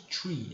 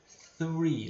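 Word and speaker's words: three: Lembra a pronúncia do TH que eu lembro que eu ensinei em sala, tá? 3, tá? Nada de tree, é 3. Lembra que o TH é com a língua entre os dentes, tá?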